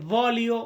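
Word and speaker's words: voglio: এমনটা না আমরা এখানে ভলিও মানে আমি চাই এমনটা বোঝায় বা আমরা ভও বলি আর্থিকল ফোকাস করতে গেলে এল এর উচ্চারণটা আমরা করি না তাহলে ভলিও আমি চাই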